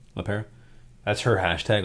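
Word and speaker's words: LePera: her last name up la perez she pronounced it la pera that's her hashtag like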